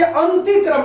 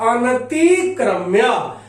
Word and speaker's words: अनतिक्रम्य: ये भी ध्यान देंगे कि बहुत बच्चे अंतिक्रम में लिख देते हैं, वो आप भूल के भी गलत नहीं करिएगा, ये न पूरा उच्चारण लेता है, अनतिक्रम्य।